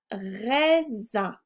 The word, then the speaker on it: raisin: Un raisin. Le S se prononce Z car je suis entre les deux voyelles I et I.